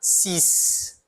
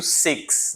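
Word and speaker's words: six: parecido com o inglês, o número seis, que é tanto seis em inglês quanto em francês, né? Eu vou pronunciar sis, sis, tá? Em inglês eu pronuncio sex, né? Mas em francês é sis, tá?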